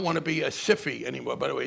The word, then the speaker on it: SIFI: systemically important financial institutions by the normal words of english rules of english pronunciation if it's a single consonant the vowel is long if it's a double consonant the vowel is short so sifi should be pronounced sci-fi but that was taken so that's why it's called the ciphy i mean